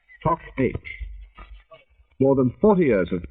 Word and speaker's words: Toc H: Talbot House soon became known to the Tommies of the First War by the initials, pronounced in the language of the army signallers of the time, Tock H.